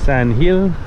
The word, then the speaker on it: San Gil: let's get down there so Sam Giller Sandhill as is pronounced in Spanish or at least pronounced by the locals was originally inhabited by